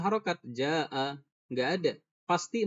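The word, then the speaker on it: جاء: Kemudian ja'a. Kemudian di sini dibaca panjang 4 atau 5 harokat. Ternyata kita pendek bacanya.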